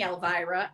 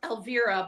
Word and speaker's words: Elvira: And I will say, as politely as I can, it's actually pronounced Elvira, but most people call me Vera. because I know that white people can't get their tongue around Elvira.